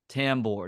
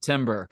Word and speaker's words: timbre: dimensions: melody, lyrics, rhythm, and timbre, not to be confused with timbre, which is how I've called it my entire life, because I'd only read it on paper and never seen it actually spelled phonetically out.